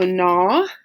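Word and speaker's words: gnaw: about the word na it actually doesn't start with an N like it sounds it sounds like na but it has a secret letter at the beginning it has a silent letter and it's tricky so na this spell G and a w and it means to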